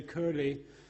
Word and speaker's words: CRLI: So I think we're sharing in CRLI, we say curly, like my hair. But I should mention that I think Peter Goodyear suggested this, and he knows me much longer than you do. And so that's curly.